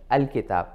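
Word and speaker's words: الكتاب: So now you can pronounce this as al-kitab.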